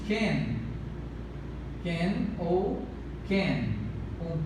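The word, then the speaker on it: כֵּן: Aqui nós pronunciamos Ken. Ken ou Ken, com K ou com M, perdão, com C ou com K, de modo que a pronúncia é Ken, não Sen, é Ken ou Ken,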